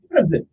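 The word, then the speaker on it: cozen: day is c z n but it is pronounced c u i n okay cousin okay cousin is how it's it's spell it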